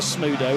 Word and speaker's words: Smudo: How did you How did you um pronounce that rapper's name? Smoo. Smudo.